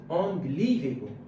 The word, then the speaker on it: unbelievable: So unbelievable. Now in this context, putting the stress on the fourth syllable, that would be unbelievable, which is correct.